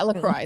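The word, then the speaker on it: LaCroix: my lacrosse Cherry what is it called lroy lacroy lro or yeah lroy that's what you're supposed to pronounce it as lroy I like lacrosse religious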